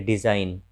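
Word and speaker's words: design: तो जब जी के बाद एन आता है तो जी का उच्चारण नहीं होता है। जैसे देखिए डिज़ाइन, रिज़ाइन, रिज़ाइन मतलब इस्तीफा देना। साइन, साइन मतलब चिन्ह। तो यहाँ हम देख रहे हैं कि जी के बाद एन है, तो जी का उच्चारण नहीं हो रहा है।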